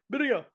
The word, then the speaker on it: birria: I think you're supposed to roll your R's. Birria bombs. Birria bombs. Birria.